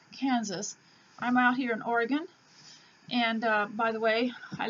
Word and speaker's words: Oregon: I'm out here in Oregon, and by the way, I learned very quickly